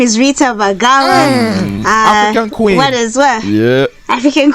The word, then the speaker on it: Bagala: right first of all my name is rita vagala what is what yeah african queen you've gone